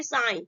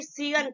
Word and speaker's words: sign: Example देखते हैं यहाँ पे, देखिए साइन, ठीक है। अब ऐसा नहीं सीगन पढ़ेंगे, सीगन नहीं इसको पढ़ेंगे, हम क्या बोलेंगे, साइन पढ़ते हैं।